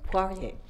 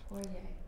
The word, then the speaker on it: Poirier: Poirier. Poirier.